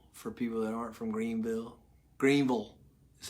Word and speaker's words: Greenville: All right, a little lesson for Greenville, for people that aren't from Greenville.